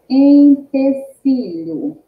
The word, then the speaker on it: empecilho: Por que eu não falo ló e lá? Porque tem a letra H no meio.